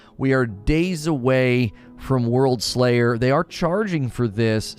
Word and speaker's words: Worldslayer: You gotta say it like this, Worldslayer.